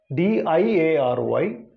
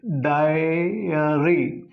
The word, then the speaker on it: diary: Now you see here these two words, D-I-A-R-Y, D-A-I-R-Y. Pronunciations are different, meanings are different. Now let us see how phonetics will help you to distinguish these two words. So here first word, diary, die, as implied, this diphthong, diary.